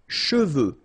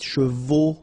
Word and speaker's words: cheveux: Usually this one is a bit of a problem because some of the students normally pronounce it chevaux, okay? So try to keep in mind that you get E-U here. So it goes like okay, and then final X not pronounced, sorry, final X, should pronounce it the French way. Final X is not pronounced.